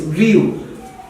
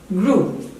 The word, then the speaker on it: grew: so for this one, many would pronounce just the way it is written, like probably something like this, grew. That is wrong. I'm marking this wrong. The actual pronunciation of this word is something like this, grew. So again, for a note, any word or most of the words with EW are pronounced oo, with the oo sound.